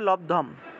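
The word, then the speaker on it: লব্ধম্: গীতাটা সাথে রেখে পড়বেন আচ্ছা উচ্চারণটা হবে লবধম তাহলে আমরা পাঠ করি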